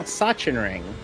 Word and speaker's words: Sachsenring: How did I pronounce Sachsenring? Sachsenring.